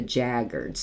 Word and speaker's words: The Jaggerz: he wants to hear the group called The jaggard and it's spelled j a g g e r z and he wants to